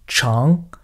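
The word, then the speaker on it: 长: Soit c'est un adjectif qui veut dire grand et dans ce cas-là on prononce chang.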